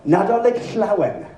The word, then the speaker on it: Nadolig Llawen: see the letters LL, the phoneme LL, it's pronounced regardless of where it is. It's Llanfair Pilgrish, or Nadolig Llawen.